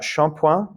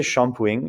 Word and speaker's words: shampooing: And you've got shampoing or une brosse à cheveux. You can also say shampooing. It depends on where you are in France, how they're going to pronounce it. So, shampoing or shampooing.